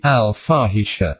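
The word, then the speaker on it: al-Fahisha: different title for her one that by no coincidence rhymes with her name al farhisha the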